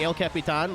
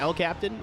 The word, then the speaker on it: El Capitan: I was like, am I trying too hard by saying El Capitan? Like, is it pronounced El Captain? Like, am I just being stupid? No, I was right.